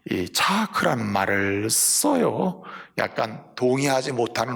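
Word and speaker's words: יצחק: 12,000 이사 이렇게 있는게 아니고 이차크 라고 읽어요 히브리어로 이상 을 부를 때는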